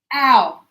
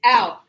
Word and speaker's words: our: Our. If I go and right? She's going to go, ow! It's the same sound. It's exactly the same. As in, ow!